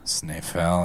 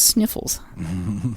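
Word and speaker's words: Snæfell: Snifell. Yeah. Who they mistakenly pronounce as Sniffles here and there.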